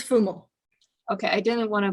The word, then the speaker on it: Fumo: It's Fumo. Okay, I didn't want to butcher it. I'm the queen of butchering names. No, that's okay. Most English people pronounce it Fumo, but in Italian, it's Fumo.